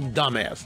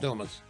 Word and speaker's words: Dumas: I was told that correct pronunciation of Stephen Colbert's writer's last name is Dumbass. Ariel Dumbass, not Dumas.